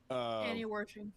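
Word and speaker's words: Annie Wersching: On the 29th of January, someone pronounce her name again, please. Annie Worshing.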